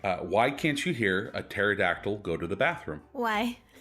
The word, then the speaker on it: pterodactyl: can't you hear a pterodactyl go to the bathroom why because the P is silent seeing your dad being